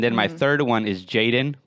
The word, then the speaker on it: jxdn: my third one is jaden but it's spelled like jxdn he's like a like